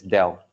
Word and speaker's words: del: uh we name it as Dell or we pronounce it as Dell okay now this guy is actually partially differentiate